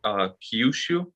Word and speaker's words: Kyushu: Kyushu.